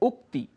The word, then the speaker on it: उक्ति: उक्ति, शुद्ध उच्चारण है उक्ति।